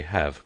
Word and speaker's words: have: But I thought, said the pupil, that you did not sound the E at the end of H A V. No more you do, explained his teacher, it is what we call a mute E, but it exercises a modifying influence on the preceding vow.